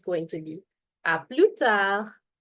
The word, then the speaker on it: à plus tard: If I'm going to see somebody much later during the day, it's going to be à plus tard. À plus tard. Remember, S and D being silent.